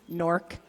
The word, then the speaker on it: Newark: Nork, for those of us from the area.